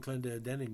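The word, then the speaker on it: Clendenon: Some cast off, but the key, Don Clendening there, that's how we pronounce it in Canada, he was the key.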